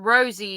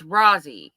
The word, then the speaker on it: Rozzy: Bambina says it's not Rosie, it's Rozzy, and it's pronounced the way it's written.